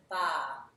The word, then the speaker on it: barre: to ballet bar up but it's spelt differently it's bas you still pronounce a bar like ba ba black sheep really and in this